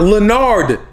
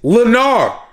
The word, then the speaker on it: Lenard: My name is not Lenard. It's Lenarr. More like Lenarr.